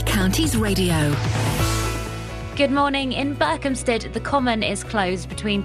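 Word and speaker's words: Berkhamsted: Burke Hamstead. No, Burkhamstead. It's not got an OP in it.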